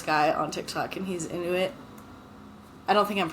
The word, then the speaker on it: Inuit: I actually follow this guy on TikTok and he's Inuit. I don't think I'm pronouncing that right.